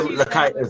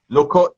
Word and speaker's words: Lakaitis: That's how you say her name, I think. Lakaitis. I pronounced your name wrong earlier, Lakaitis. Okay. I said Lokot.